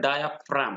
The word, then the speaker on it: diaphragm: तो ये जो डोम शेप्ड स्ट्रक्चर है मस्कुलर, इसको बोलते हैं डायाफ्राम। क्या बोलते हैं? डायाफ्राम। तो फ्रेगम नहीं बोलेंगे, स्पेलिंग गौर से देख लेंगे, DIAPHRAGM, डायाफ्राम। तो ये स्ट्रक्चर क्या करता है?